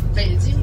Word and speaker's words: Beijing: But most of people think what's the difference between the Peking and Beijing? That is the Mandarin pronunciation. The Peking, that is the old pinyin system.